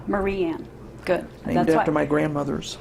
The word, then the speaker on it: Mariann: It's Mariann. Mariann.